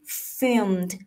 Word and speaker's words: film: นะ คะ หลัง จาก ผู้ ชาย เห็น He filmed The situation He filmed The situation ไม่ ยอม